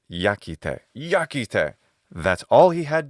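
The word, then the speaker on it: iacite: But in classical Latin, as well as pre-classical Latin, which is what this is by like 112 years, the pronunciation is yakite.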